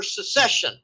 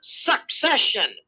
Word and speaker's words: secession: in a threat for secession. And people need to understand, how do you pronounce this damn word? It is not succession. They're not succeeding anything. They're seceding. It's secession. Secession.